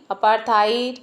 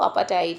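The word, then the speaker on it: apartheid: इसको अपार्थ अपार्थाई इस तरह से भी लोग प्रोनाउंस करते हैं। बट जो राइट प्रोनंसिएशन है वह अपटाइड है।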